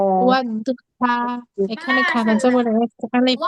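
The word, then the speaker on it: والضحى: সবাই বলেন তো উচ্চারণটা কি হবে? ওয়াদ্দুহা, ওয়াদ্দুহা, এখানে খানা জবর একটা আলিফ পড়ে।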